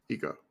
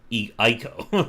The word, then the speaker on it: Eco: Eco. How do you spell that? ECO. ECO. I thought it was Ico, like the other one.